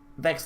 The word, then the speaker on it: Vechs: Vechs is also how to pronounce Vechs, by the way. Not Vechs or Vix or Vechs.